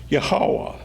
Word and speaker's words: Yahweh: is usually Y with E in superscript, H-O-W-A-H, Yahweh, from which we get in the English form Jehovah. Now, Jehovah is nothing but an artificial ghost word. It was never used in antiquity. The synagogue readers saw Yahweh and read it as Adonai, The final syllable